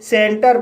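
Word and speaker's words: centre: जैसे सेंटर, सेंटर शब्द के अंत में आर ई आया है और यहाँ पर आर ई का उच्चारण रा हुआ है इसलिए इसे सेंटर पढ़ते हैं।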